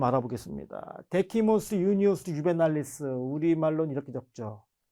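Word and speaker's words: Juvenalis: 뭐 또 V를 W처럼 발음하는 유에날리스 이렇게 발음하시는 분들도 물론 계십니다.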